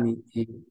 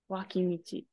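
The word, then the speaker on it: 脇道: So the last part right here is pronounced as michi, which is road. You're right though. Kawamichi. Good guess. It is waki. Waki michi, just side street.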